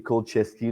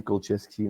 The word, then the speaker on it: Kulczycki: Puis, pour le nom de famille, c'est Kolcheski, là, que c'est la façon la plus populaire de la dire. Là. Puis, je suis sûr que s'il y a des Polonais qui nous écoutent, ils ont peut-être d'autres prononciations, mais moi, j'ai pas mal tout le temps dit Kolcheski. Là, fait que c'est la façon la plus américanisée là, que j'ai trouvée.